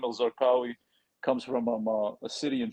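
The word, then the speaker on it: Zarqa: his last name was zarkawi comes from a city in Jordan that he's from called zarka or zaga like it's pronounced with the G and that city is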